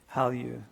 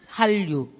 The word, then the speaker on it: Hallyu: Hallyu, Korean wave.